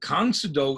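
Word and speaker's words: 공수도: to those sounds so count odo is the korean way of pronouncing karate and tongue sudo is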